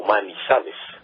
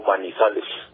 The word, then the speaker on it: Manizales: varias quebradas con piedras de maní, le llamó Manizales.